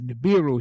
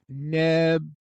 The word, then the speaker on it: Neberu: Okay, so we say Nibiru, right? So that you're familiar with that, right? Of course. Yeah. All right, so this is what I found that Sitchin did. Even York, because he didn't know one way or the other. He was just using Sitchin's books to make money. So, okay, so you got Nibiru here. Now, in Akkadian, it is Neberu.